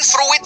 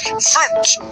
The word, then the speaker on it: fruit: Kalau buah itu bukan fruit fruit tapi i-nya hilangin aja cara bacanya fruit. fruit.